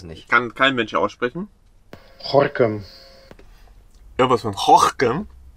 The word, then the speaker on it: Gorinchem: Haben wir als erstes schon mal mitbekommen, dass Gorinchen gar nicht Gorinchen heißt, sondern es wird... Ist aber verniedlicht, ich finde es süß. So. Ja, wird nämlich anders ausgesprochen.